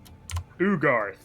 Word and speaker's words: Ugarth: he introduces himself as ugarth the lead investigator of the of this case how do you spell that u-g-a-r-t-h like it sounds yeah ooh guard garth with a u in the front does he say anything